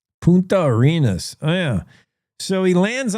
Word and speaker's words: Punta Arenas: The the Ponta Arenas. I better have Siri pronounce that as well. Puna Arenas. Punta Arenas.